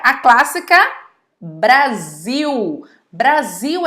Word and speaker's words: Brasil: Tem uma que é super conhecida de vocês, que é a clássica Brasil. Brasil é escrito com Z? Não, Brasil é escrito com S, mas é pronunciado com o som de Z.